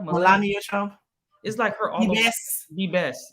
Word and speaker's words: Melania: over is that how you say her name melania melania trump yes the best it's like she picked